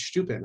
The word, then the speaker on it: Steuben: It's Steuben, huh? There's actually two pronunciations and they're both right.